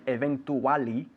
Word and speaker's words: eventually: Be careful with the pronunciation because we write it eventually, con dos L's, eventually, but we pronounce it eventually. Cha, cha, cha.